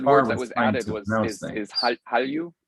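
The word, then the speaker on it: 한류: But one of the words that was added is Hallyu, right? Hallyu, the Korean wave, and that's spelled Han-lyu. There's an HANLULYU, and those get merged.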